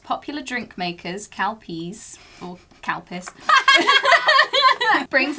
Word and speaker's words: Calpis: how it's actually pronounced it's calpis not cow piss cal piss i don't